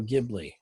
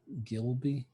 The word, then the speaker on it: Ghibli: well here's the thing there is no wrong way to pronounce it i'll start by saying that however maybe it is gilby gibby no it's okay so ghibli is i'll tell you